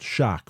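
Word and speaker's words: xoc: have derived from the Yucatan, the Mayan word, shock, pronounced shock, which and if you see the Mayan word written, it's X-O-C.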